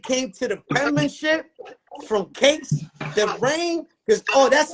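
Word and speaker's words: KAXE: But when it came to the penmanship from Cakes, the RAME, because, oh, that's another name I forgot to tell y'all. That was my RAME alias, was K-A-X-E. What? How you say it? K-A-X-E. Cakes.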